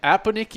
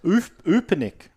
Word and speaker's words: Upanik: The voice pronunciation's wrong, mate. It's Upanik.